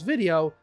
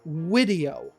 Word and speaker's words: video: of times throughout this video he has said wideo instead of video so he's giving you